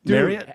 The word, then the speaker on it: Marriott: way it's Marriott it have you ever noticed that Marriott it's marot I I've been I